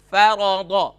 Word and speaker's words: فرض: سے جوڑ شروع کرائیں، جیسے فرض، فرض، ان تینوں حروف پر زبر کی علامت ہے، تو ف زبر ف، را زبر را، فر، ضاد زبر ضا، فرض۔ اسی